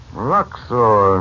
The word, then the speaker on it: Roxor: Roxor, Nadji called him. It sounds like a coined name. As if... As if what? Well, if it's spelled R-O-X-O-R as it sounds, it's spelled the same forward and backward.